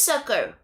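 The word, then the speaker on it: succor: Is it sucker? Is it just sounds like a like a sucker? Like sucker. Hold on. It is sucker.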